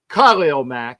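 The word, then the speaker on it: Khalil Mack: And I And for all that don't know my, like I said, Kyle Mack, and that's the way to say his name, is a great player.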